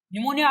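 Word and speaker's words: pneumonia: न्यूमोनिया किसकी वजह से होता है, न्यूमोनिया आपने सुन भी रखा होगा। अच्छा एक और बात बता दो, न्यूमोनिया एन से शुरू नहीं होता है, पी से स्पेलिंग स्टार्ट होती है इसकी, है ना, जैसे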